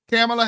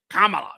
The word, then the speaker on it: Kamala: not Cala I'm CA cameela Harris camea Harris cameela camea camea cameela camea then she got on and I'm Kamala say it Kamala get my name right now oh because that's the Indian pronunciation so now you're being